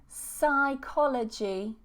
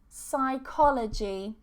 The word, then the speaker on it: psychology: Silent P. Receipt, receipt, receipt. And the next one, psychology, psychology.